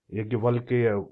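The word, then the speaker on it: याज्ञवल्क्य: द end product च solvation हम जब यज्ञ यज्ञ वलक वल्की यज्ञ वल्की इसको जो उनका प्रोनाउंस है यही है ही वेरी फेमस ऋषि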